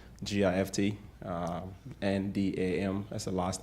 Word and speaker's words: Ndam: like it sounds, G-I-F-T, N-D-A-M, that's the last name. The N in that name is silent, Ndam.